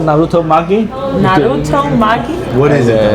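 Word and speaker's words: narutomaki: Naruto? Magi? Magi. Naruto Magi.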